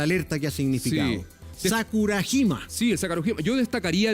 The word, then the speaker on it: Sakurajima: Sakurajima.